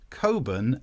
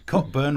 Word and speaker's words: Cockburn: Posh people think that their surnames are pronounced Coburn and Ramsbotham. No, they're not. Cockburn, Ramsbottom, shut your face, you posh git.